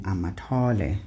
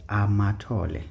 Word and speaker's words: Amatole: It's Amatole. So the stress and intonation there on the syllables is down. Okay, it's not going up.